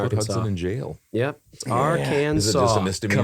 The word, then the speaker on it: Arkansas: It's Arkansas.